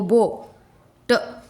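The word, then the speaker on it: boat: बी ओ बो, ट, ए omit हो रहा है, बोट।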